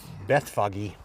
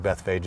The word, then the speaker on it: Bethphage: he goes down to Beth Fage bethphage looks like Beth foggy I think Beth Fage is the right way to say it and the disciples get